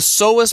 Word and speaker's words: psoas: So the psoas muscle, spelt with a P, P-S-O-A-S, is a muscle that plays